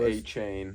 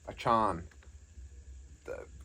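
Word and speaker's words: Achane: aan he said there was something where he pronounced his name in an interview it's not a chain it's it's it's Devon Devon aan I I don't even think it's that it's like a Chan it's something here we go Devon chain pronunciation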